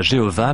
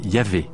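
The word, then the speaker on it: YHWH: Dieu s'écrit YH VH ce qui ne se prononçait probablement pas Jéhovah mais yah à Jérusalem un seul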